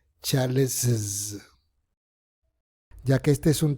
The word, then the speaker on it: Charles's: Cuando hablo de colocar una vocal adicional me refiero a una I porque es imposible pronunciar una doble S. James no es posible, así que necesitas una vocal. Y la segunda S suena como una Z.